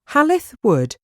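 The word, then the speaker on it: Hall i' th' Wood: was demolished in 1949 halith wood was built in the 16th century its name comes from hall in the wood and is spelt how it's pronounced in the local dialect the house was owned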